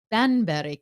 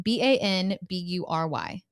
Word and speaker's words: Banbury: was known as the benberry cake and it was started and became popular in 1655. the white cake I may not be saying it correctly b-a-n-b-u-r-y oh like Banbury I wasn't sure because in